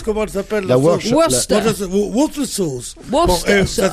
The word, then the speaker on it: Worcester: C'est comme la sauce, comment elle s'appelle La sauce Worcester. Worcester sauce. Worcester. Ça s'écrit Worcester sauce.